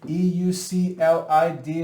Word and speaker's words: Euclid: by an ancient philosopher named euclid this name e-u-c-l-i-d is pronounced euclid and the name of the book